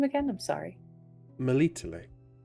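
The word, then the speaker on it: Melitele: Malito. Malito.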